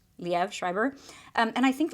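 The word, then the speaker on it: Liev Schreiber: to say his name I think it's leev Le leev shriber um and I think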